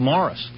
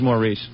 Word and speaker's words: Maurice: Maurice likes to be called Morris. Oh. I always thought your name was Maurice. No, it's just spelled the French way, Maurice. Morris? It's Morris, though. It's pronounced like M-O-R-R-I.